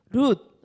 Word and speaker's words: 룻: 자, 발음이 중요합니다. 모압과 암몬의 조상은 롯. 지금 이 성경에 나온 여인의 이름은 룻.